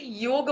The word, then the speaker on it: योग: C most of the people know that it's अ योगा बट एक्चुअ actually योग होता है because ये जो योगा है वो जैसे फॉरेन कंट्रीज के लोग हैं उनको ये प्रोनाउंस नहीं कर पाते हैं। तो दैट्स व्हाई यो योगा बोलते हैं। बट ये अगर मैं रियल वर्ड की बात करूं तो ये योग है जो ह्यूज वर्ड्स संस्कृत से आया है।